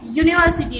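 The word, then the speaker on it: university: यूनिवर्सिटी, लेकिन यहाँ पे यू जो है वो साइलेंटली हमें रखना है।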